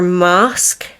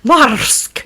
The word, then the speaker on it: Marske: I'm going to call it, the way it's pronounced is more mask, because English people tend to pronounce their R slightly different to we do because we roll them here. Marske.